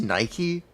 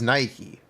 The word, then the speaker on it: Nike: is very different H shouldn't it technically be pronounced Nike but I don't think they can get away with that I think that one's copywritten cuz the goddess of Victory is Nike that's how it's pronounced that's why the shoe